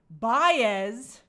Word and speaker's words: Baez: Baez. I know I got the pronunciation right.